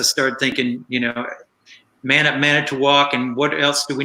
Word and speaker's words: Manitowoc: I was thinking it's going to have to be something where it rhymes with walk, you know, and that's going to have to be it.